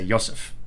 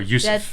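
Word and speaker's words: יוסף: They say in Hebrew they don't say Joseph, they say Yosef. Yeah. Or Yusuf.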